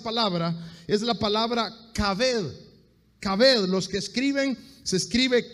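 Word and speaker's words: כָּבֵד: Kaved, los que escriben, se escribe K-A-B grande E-D, kaved, que significa dar peso, dar valor, dar prestigio a alguien.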